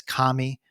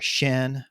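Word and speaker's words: 神: on how one interprets the Chinese character pronounced in Japanese as Kami or Shin or Jin uh or pronounced in Chinese as Shen and uh some Scholars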